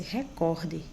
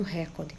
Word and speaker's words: recorde: Por exemplo, de acordo com suas regras, pronuncia-se recorde com intensidade na penúltima sílaba e não recorde, como tem pessoas que dizem, com intensidade na antepenúltima, como se fosse uma proparoxítona.